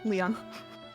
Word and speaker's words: Lion: This is my child, Lion. Pleased to meet you. I'm sure Leon Leon or Lion Leon. Leon. Like a French Leon. Leon. Basically, Leon.